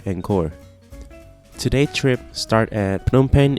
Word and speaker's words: Phnom Penh: Today's trip starts at Phnom Penh International Airport, or how the local pronounce it, Phnom Penh.